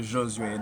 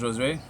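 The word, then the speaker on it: Josué: I'm gonna challenge everybody to just pronounce it Josue. That is the French pronunciation of my name. I am from Haiti, so Josue, Joseph. So my name is Josue.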